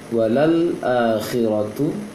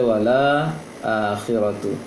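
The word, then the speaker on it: وللآخرة: Walal akhiratu itu lam sukun, setelah lam fathah ada lam sukun. Walal yang tengah-tengah itu adalah lam. Walal akhiratu. Tadi baca wala akhiratu.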